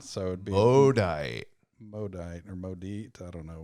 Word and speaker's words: Maudite: I call it the Maudite. Well, I know like mauve, M-A or A-U is an O sound, so it'd be Maudite or Maudite.